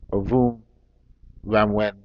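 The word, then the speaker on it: Ovonramwen: I'm gonna have to pronounce his name properly. Ovun Ramwen Oba.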